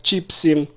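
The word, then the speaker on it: צ'יפסים: Во множественном числе, если имеется в виду несколько кусочков вот этого картофеля, это будет звучать как «чипсим», «чипсим» или, может быть, разновидности чипсов. «Чипсим» – ударение не падает на окончание.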